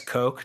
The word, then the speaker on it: Coke: sorry uh well you it's one of those trick trick pronunciations Anthony gave me an out here by mentioning mentioning that I am from Indiana and so that is uh that's Coke to me and that's how Lord Lord cook was known in Indiana